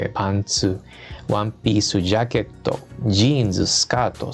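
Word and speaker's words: パンツ: Y como se dan cuenta, se escribe igualito, lo que cambia es la entonación, ¿no?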